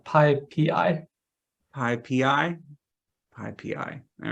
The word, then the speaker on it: PyPI: All right, Paul was saying, I guess I'm mispronouncing it as PyPy. People often pronounce it as PyPy. Yeah, that's probably a good way to do it. Oh, PyPI.